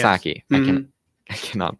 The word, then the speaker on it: Psaki: The previous one being, I believe, it was Miss Paskai. Oh, the current one is Psaki. Yeah, Yes. Saki.